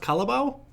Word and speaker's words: carabao: for your for your cut about or your water buffalo if it's easier to say i've also heard it pronounced calabao so maybe that's easier